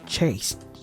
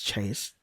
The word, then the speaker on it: chaste: of my intentions are chasteed. Or is it chasty? I forgot how it's pronounced. Chest. No, it's chased because I'm pretty sure chest is like another word for chastity or something like that.